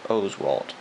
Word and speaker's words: Oswalt: and we got a Roy Oswalt and it's pronounced Oswalt a lot of people pronounce it wrong I